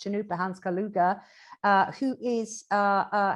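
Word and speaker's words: Chanupa Hanska Luger: artist called chanupa the way his name is pronounced chanukah hans kaluga uh who is uh uh has been creating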